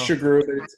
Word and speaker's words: Sughrue: Well, it's Sughrue. I've been mispronouncing it my whole life, so don't worry.